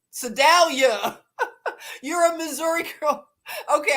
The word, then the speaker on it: Sedalia: Sir Dale you Sedalia did I say it right like a Missouri girl yay uh Sedalia